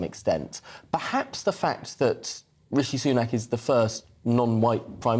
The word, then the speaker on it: Rishi Sunak: I mean, he did get his name wrong. Yeah, Rashid Sunak or something. Rashid Sunak, I think he said.